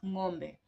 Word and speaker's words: ngombe: So if you can pronounce that, then you definitely can pronounce ngombe. Two syllables, yeah.